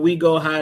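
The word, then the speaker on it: Oui Go High: man we go high it's spelled like the French we o UI go high go check them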